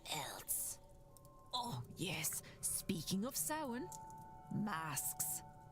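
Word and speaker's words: Samhain: Speaking of sin masks, you all have costumes for the ball this evening.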